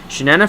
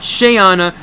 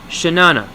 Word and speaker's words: Shanana: Shanana forever. Not Shayana, not Triana, or your butthurt white knight stop Shay Carl, it's Shanana.